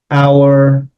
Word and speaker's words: hour: And of course, hour is Hour, but the H is not pronounced. And so it's our, and this is our house.